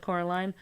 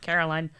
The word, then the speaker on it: Coraline: No, said Coraline. The old man shrugged. They're funny, the mice. They get things wrong. They got your name wrong, you know. They kept saying Coraline, not Caroline. Not Caroline at all.